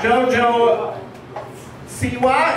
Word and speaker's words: JoJo Siwa: Oh my gosh, one of my favorite new stars on the block, JoJo Siwa.